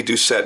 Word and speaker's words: Doucette: if you look you Google image search Randy duet knives and that is by the way the proper pronunciation of his name it's not duett it's duet and you look at all of